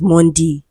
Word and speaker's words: Monday: option a right because automatically We will pronounce m o n d a y as mundy. Do you understand?